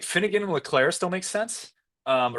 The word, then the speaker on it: Leclerc: think like Finnegan and Leclerc still makes sense. Or it's Leclerc. I always mess up that final C in the Yeah. French No, you're right. pronunciation of it or Leclerc.